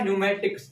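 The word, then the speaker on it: pneumatics: ठीक है, पी एन ई यू एम ए टी आई सी एस क्या होगा न्यूमेटिक्स।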